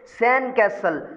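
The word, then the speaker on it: sandcastle: याद रख लीजिए, आप इसको बोलेंगे कैसे बोलेंगे? डी को आप साइलेंट करके फिर बोलेंगे सैंड कैसल, सैंड कैसल।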